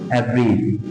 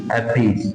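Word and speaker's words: abridge: letter কিন্তু আমার পাশাপাশি যে কারণে ডির উচ্চারণটা সাইলেন্ট থাকবে বাট ডি সাউন্ডটা সাইলেন্ট থাকবে খেয়াল করে দেখো এব্রিজ এব্রিজ মানে কি সংক্ষিপ্ত করা এভব্রিজ মানে হচ্ছে সংক্ষিপ্ত করা বাংলা উচ্চারণটা দেখো এভ্রিজ এভ্রিজ এভ্রিজ সংক্ষিপ্ত করা নেক্সট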